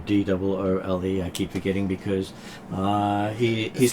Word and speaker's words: Drule: Dull, not Drool. Doole.